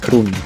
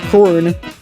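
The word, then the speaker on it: krooni: And yes, it's pronounced kroni, not korun, at least according to Google Translate.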